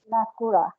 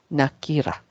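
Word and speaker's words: نكرة: So it's a nakura. Nakira. Yeah, Nakira. Nakira. Okay. We should do this more often so that you know it's nakira in terms of pronunciation.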